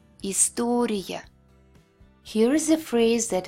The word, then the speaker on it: история: At the end of the word, it will be Y. Less clear and shorter than Y. История.